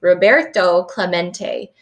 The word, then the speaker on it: Roberto Clemente: through his spanish name rob uh row burt um let's see toe claw mate it echoed in the near empty stands roberto clemente was his name and this is pronounced roberto clemente as if to introduce